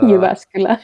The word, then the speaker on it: Jyväskylä: the name is kind of like hard to pronounce. It's Jyväskylä.